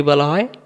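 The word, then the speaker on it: با: চলুন আমরা এরপরে বা অক্ষরকে দেখি। অক্ষরের নাম কি? বা আবারো বলেন বা। অনেকে আমরা এই অক্ষরটাকে বে বলি। আলিবে তেছে এরকম যারা পড়বেন তাদের উচ্চারণ সহি হবে না। ভুল হবে।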